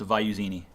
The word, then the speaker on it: Avaiusini: It's pronounced Avaiusini. Avaiusini.